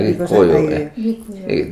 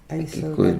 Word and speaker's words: Gikuyu: The pronunciation. Yeah, Gikuyu. This Kikuyu, because the English called as the Kikuyu. Okay, but it's this with the G actually.